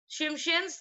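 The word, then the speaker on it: Tsimshian: Shimshians, T is silent.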